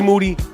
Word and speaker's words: Moody: I'm in here with G Moody, last name rhymes with duty.